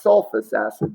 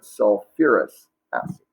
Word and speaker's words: sulfurous acid: I'm going to put a little star there because here again with the sulfur, you're going to add UR. So this would be sulfurous acid. Not sulfus acid, but sulfurous acid.